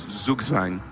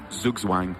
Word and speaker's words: Zugzwang: Which is Zugzwang. Zugzwang, a German word. I'm sure I'm pronouncing it wrong as well. Zugzwang? Zugzwang or Zugzwam. Gugzwang? Zugzwam. It sounds like Zerg Swarm is the way I remembered it.